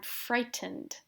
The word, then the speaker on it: frightened: Or you could say, I'm frightened. This is a lot of letters, but it's only 2 syllables.